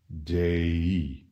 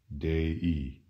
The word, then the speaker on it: dei: of the word dei the I pronounced e in Latin is the equivalent of